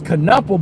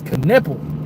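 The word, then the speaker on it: Knueppel: cuz I thought it was Canelo, but it's Canipple.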